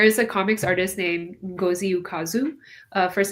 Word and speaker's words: Ngozi Ukazu: So, there is a comics artist named Ngozi Ukazu. Uh first name is spelled n g o z i and Ukazu When you Google, you'll find her.